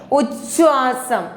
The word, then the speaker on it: ഉച്ഛ്വാസം: ഉച്ഛ്വാസം ഉച്ഛ്വാസം അധിഖരം ഇച്ഛായിക്കാണ് force കൂടുതൽ, ശക്തി കൂടുതൽ കൊടുത്തു പറയാം.